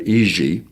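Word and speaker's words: Jiří: name is uh j-i-r-i which they pronounce not Jerry but EG okay slutch and this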